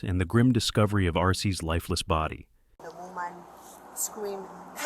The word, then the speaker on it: Arce: A-R-C-E? Yes. How do you spell it?